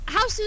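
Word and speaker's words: Hausu: Well, Houssou is how you say it in Japanese. I say that to differentiate with the 80s movie House. Otherwise, you just say house.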